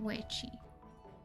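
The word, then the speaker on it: Weiqi: It's more like Weichi. Weichi. Okay. Sorry, we may have to stop occasionally if they don't say the word, so I don't completely butcher it. Yeah, Weichi.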